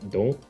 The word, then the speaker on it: Don: But yeah, even like the word don't on the card is in Japanese. I don't know why I call it Dawn, but then I know it's pronounced Don.